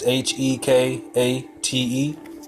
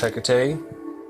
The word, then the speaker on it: Hecate: said the last video Hecate is is HEK a te okay and this pronounced Hecate then let's see summer